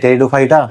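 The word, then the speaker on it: Pteridophyta: तो ए से algae, B से ब्रायोफाइटा, पीटी क्योंकि यहां पे इसी साइलेंट है तो इसको बोलते हैं टेरिडोफाइटा, जी से जिम्नोस्पर्म और ए से सबसे एडवांस एंजियोस्पर्म।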